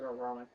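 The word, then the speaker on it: Ororon: His name is Auroran. Spell it. O-R-O-R-O-N. O-R-O? R-O-N. I think it is Auroran.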